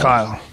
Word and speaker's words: Kyle: and so today here's it sounds like Carl when he says it. So sometimes you're gonna hear me say Carl because that's kind of how he pronounces Kyle because not American. However, it's Kyle. It's Kyle.